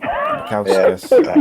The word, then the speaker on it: Bukauskas: Tell us it. Bukauskas. You lot said it wrong.